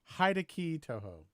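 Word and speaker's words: Hideki Tojo: i believe it was i believe that's pronounced hide-a-key touhou sure that's what he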